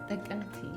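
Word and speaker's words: ጥቅምቲ: Tekemti.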